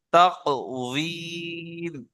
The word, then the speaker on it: تقويم: তা কফ জবর তাক, ওয়াও ইয়া মিম জের উযীম, তাকওয়ীম। ঠিক আছে?